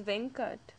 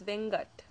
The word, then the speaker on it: Venkat: And another common Tamil name is Venkat, but it can also be pronounced as Vengat.